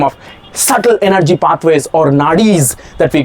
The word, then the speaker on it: nadi: subtle energy pathways or nadis that we call it nari in Sanskrit. Nadi okay long a long e nadi in Sanskrit.